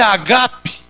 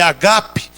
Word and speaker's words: ágape: vossas festas de amor a palavra grega aí é agap não é Ágape a pronúncia é agape que significa Realmente uma